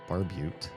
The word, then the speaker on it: barbute: We'll merge the barbute. That's how you pronounce it.